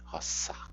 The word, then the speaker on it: rosa: O S ele não é pronunciado como em português com o som de Z, o S entre vogais. Rosa, na verdade, roça, roça, pela pronúncia reconstituída.